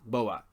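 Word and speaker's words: Bohbot: syndicated series, including the collaboration with Bobot, which is spelled B-O-H bot, if you will, Bobot.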